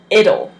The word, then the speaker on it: it'll: is pronounced it'll it'll if somebody speaking quick in English it will sound like it'll it'll they kind of